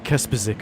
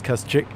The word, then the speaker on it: Kuschik: of seasons ago that everyone told me I was saying his name wrong. I think I was saying Kaspersic or something like that, but it is Kuschik.